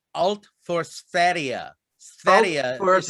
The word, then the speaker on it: Sverige: Sverige is how you. Sverige. It means everything for Sweden or all for Sweden. Because Sverige is how Swedes say Sweden.